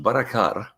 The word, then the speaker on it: Barakar: So it's not how it's written, it's how it's pronounced, Barakar.